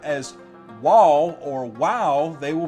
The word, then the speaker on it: Waw: all unanimously stated that the sixth letter of the Hebrew alphabet is pronounced WaW, not VaV.